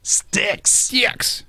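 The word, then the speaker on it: Styx: not just sticks but sticks sticks rhymes with six but it did you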